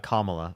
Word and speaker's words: Kamala: I more support Trump and is sorry I don't know how to pronounce it. I'm sorry. How do you say it? Kamala.